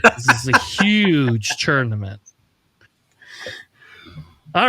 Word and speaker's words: UKGE: Huge, huge, huge. Yeah, just ignore the K and you're you're good.